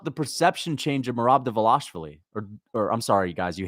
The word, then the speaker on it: Dvalishvili: Dvalishvili. You're not supposed to pronounce the V, but I just say, I guess it's Dvalishvili, not Dvalishvili.